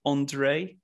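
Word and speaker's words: Endre: I think it's pronounced Andre. It's E-N-D-R-E, Andre Friedman.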